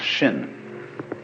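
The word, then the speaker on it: 心: In Chinese, mind is this word pronounced shin.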